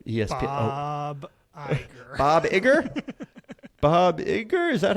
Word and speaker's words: Iger: the head of ESP Iger Bob Iger Bob Iger is that how you say it right yeah